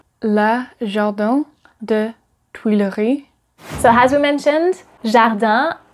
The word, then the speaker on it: le jardin des Tuileries: Number 7, Le Jardin des Tuileries. Le Jardin des Tuileries. Le Jardin des Tuileries.